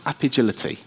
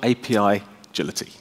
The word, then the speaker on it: Apigility: we're here for and it is pronounced app agility it's a pun on agility it is not api agility app agility it's an